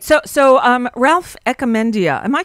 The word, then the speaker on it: Echemendia: So, Ralph Echemendia, am I pronouncing your name correctly? Well, it's okay, because people say it like that all the time. How it's do you say it? Echemendia.